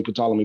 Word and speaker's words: Ptolemy: I don't know why I say Ptolemy, but the P is silent.